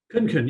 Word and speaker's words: Khunkhun: Our victim of the day is Shawn Khunkhun. Shawn, it just occurred to me, I should have asked you before we started. Is that pronouncing it right? Khunkhun, yeah, you got close.